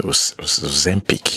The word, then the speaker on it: Ozempic: Some people suspect that, she's using Ozempic. Yeah, that's the pronunciation. She's using Ozempic.